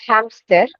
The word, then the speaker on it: hamster: Le hamster. It's not ham, it's hamster. Le hamster. Oh, okay. Lamster maybe yellow post. No. No, because that H is aspirated.